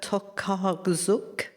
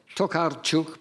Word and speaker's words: Tokarczuk: Now, I might not be able to pronounce this properly. It's Olga Tokarczuk. It's, yes, or Tokarczuk, but you're obviously onto the right person.